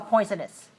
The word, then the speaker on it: poisonous: shape of my mouth my mouth is open really big for the first syllable it's three one oh